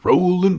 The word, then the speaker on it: Rowling: I think I read somewhere that it said rolling.